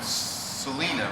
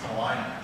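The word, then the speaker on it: Celina: shamp he lives in Selena right Salina Salina I never pronounce that correctly okay he lives in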